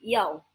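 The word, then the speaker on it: 一: Nah, untuk angka 1 kita tidak menyebutkan sebagai angka penyebutan i tetapi yao. Kenapa?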